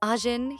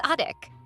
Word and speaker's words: Ajin: Instead of saying Ajin, he says Adik, which sounds like a puppy's name.